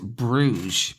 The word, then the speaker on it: Bruges: But you might hear it pronounced Bruges. Brugge. That's the French pronunciation for said city.